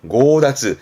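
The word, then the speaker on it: 強奪: 강하게 빼앗는 강탈 고다즈. 이 강자가 발음이 고가 되는 게 좀 조심할 부분입니다. 고다즈.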